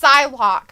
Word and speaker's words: Psylocke: Well, P-S-Y is Psy. Right. Like psychology, Psy.